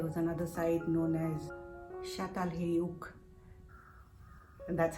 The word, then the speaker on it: Çatalhöyük: in turkey there was another site known as shattal hayouk and that's how it's pronounced uh spelt a little different but pronounced